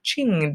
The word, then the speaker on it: Qing: going to be the Qing Dynasty is how it is pronounced remembering that Qin was our other one that was similar to this but of course new